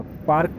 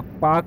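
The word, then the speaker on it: park: नहीं है, डार्क room, र नहीं प्रनाउंस होगा, पार्क नहीं होगा, पाक होगा, ये कार नहीं है, कार है, ठीक है।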